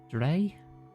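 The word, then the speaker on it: draoi: Dre. Dre. I say D. I think Dree. Native Irish word for a traditional practitioner of magic. Pronounced Dre.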